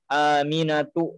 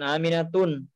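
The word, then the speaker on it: آمنة: tidak boleh diberikan tanwin makanya kita cara membacanya adalah aminatu bukan aminatun ya aminatu Zain Abu Fawaid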